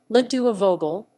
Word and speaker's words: Les deux aveugles: less dukes of ugl's french pronunciation ledua vogel the two blind men